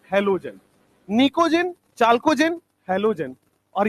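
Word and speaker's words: pnictogen: नाइट्रोजन family को लिखते हैं हम लोग निक्टोजेन लिखते हैं, बट पढ़ते हैं इसको निकोजेन। टी साइलेंट होता है। निक्टोजेन लिखते हैं बट इसको निकोजेन पढ़ेंगे।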